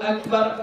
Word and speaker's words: Akbar: k mana mana kan kita bacanya Allahu Akbar Allah laf Allahnya panjang ya itu yang yang benar ini katanya ada yang memanjangkan tapi kalau kita panjangkan batal salatnya barnya dipanjangkan Akbar barnya dipanjangkan maka itu membatalkan membatalkan salat Jadi jangan dibuat kayitu